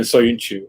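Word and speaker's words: Söyüncü: That's how you pronounce it. And then Soyuncu is his last name.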